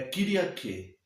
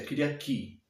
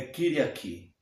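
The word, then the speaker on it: Κυριακή: Tanto no grego moderno é a mesma palavra, só que a pronúncia é um pouco diferente. É Kyriaki.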